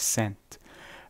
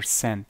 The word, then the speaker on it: cent: That is cent, or cent. With the T is silent.